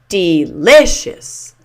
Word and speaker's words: delicious: That means that the LI, lish, L-I-S-H, lish, is the primary stress syllable. So this will be said loudest and longest. Delicious.